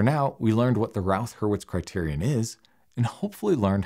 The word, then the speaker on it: Routh-Hurwitz: But for now, we learned what the Routh-Hurwitz criterion is, and hopefully learned how to pronounce it, Routh Hurwitz.